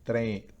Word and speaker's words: train: Fíjense que la T en inglés tiene ese chasquido. No es como en español diríamos train, pero en inglés no decimos train, sino train. La pronunciación en inglés de la T es diferente a la pronunciación habitual en muchos países de América Latina.